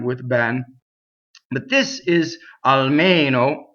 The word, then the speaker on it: almeno: But this is almeno, and this E is stressed and it's closed.